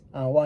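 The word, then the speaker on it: を: reality or in actuality we actually don't pronounce it as well uh we actually we pronounce it as the same the pronunciation is not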